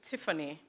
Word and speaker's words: Tiffany: So it's pronounced Tiffany.